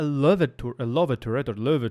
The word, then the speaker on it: Löwe: It has this distinct E75 hull, a Löwe turret, when you want to say the German pronunciation, with added panzer plates, armor plates.